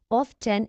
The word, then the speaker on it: often: silent in this word often is incorrect often is correct the t is silent in this word tip to remember pay